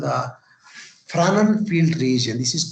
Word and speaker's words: Fresnel: This is because of the scientist name Fresnel. This is the Fresnel name. S is silent. Fresnel name.